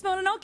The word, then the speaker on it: Mononoke: It's Princess Mononoke, and she's got one arm, which is kind of...